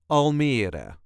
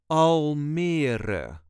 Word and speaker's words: Almere: This is the way us Dutchies say Almere. Almere. There is a light emphasis on the middle part. Almere. All the letters will be pronounced. Almere.